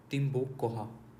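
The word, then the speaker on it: Tambococha: Okay, और कहाँ पे ऑयलिंग हो रही है, ऑयल ड्रिलिंग बेसिकली इशपिंगो तिपुतिनी, इशपिंगो तिपुतिनी तम्बोकाचा, CH वैसे साइलेंट होता है, तिम्बोकोहा ऑयल फील्ड, वहाँ पे ड्रिलिंग हो रही है, ये ध्यान रखना।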